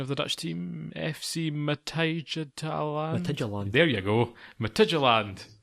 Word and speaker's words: Midtjylland: John, you'll be able to tell me the pronunciation of the Dutch team, FC Midtjylland.